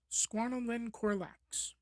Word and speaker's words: Squalicorax: the Crow Shark's tooth their scientific name is Squalicorax (pronounces SKWA-lih-CORE-ax) Greek for Crow Shark They at one